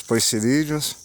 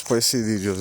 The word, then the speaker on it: poecilídeos: não envolve apenas os poecilídeos, né? Os poecilídeos. Eu falo com I, mas é com E.